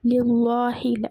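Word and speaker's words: لِلَّهِ: இதே தர்கீக்கில் கெஸ்ரா வரும்போது அல்லாஹு அல்ஹம்து லில்லாஹி, லில்லாஹி லில்லாஹி லைட்டாக ஓதுறோமா.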